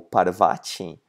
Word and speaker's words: Parvati: Ela é o símbolo da deusa Parvati, ou Parvati, na pronúncia brasileira, e significa energia feminina, que é a energia mais importante do nosso universo, que é a mãe natureza, né?